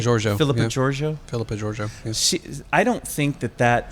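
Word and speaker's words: Philippa Georgiou: Am I pronouncing that right? Giorgio, Philippa yeah. Giorgio. Philippa Giorgio.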